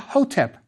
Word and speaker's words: Hotep: For example, Ptah Hotep means Ptah is pleased. The first hieroglyph after Ptah is a cone of incense on a reed mat. It's a triliteral, pronounced HTP, so we say Hotep.